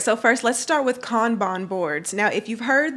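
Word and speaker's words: Kanban: software all right so first let's start with con Bon boards now if you've heard this pronounced as can ban just know that whoever said it said it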